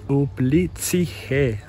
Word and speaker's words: Uplistsikhe: I've been saying it wrong this whole time. It's Uplistsikhe. I think that's closer.